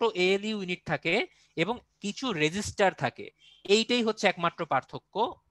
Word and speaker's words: register: তো এই চিপের মধ্যে বিভিন্ন রকম আপনার ইলেকট্রনিক যে সার্কিট গুলো আছে, যেমন ডায়োড, ট্রানজিস্টর, রেজিস্টার, এটা কিন্তু রেজিস্টার বলেছি ভাই, এটা কিন্তু রেজিস্টর না, রেজিস্টার অন্য জিনিস, সেটা হচ্ছে রোধ।